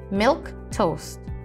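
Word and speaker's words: milquetoast: the word of the day is milk toast milk toast is a noun milk toast is spelled m-i-l-q-u-e-t-o-a-s-t milk toast miltos is pronounced milk toast milk toast means a timid or feeble person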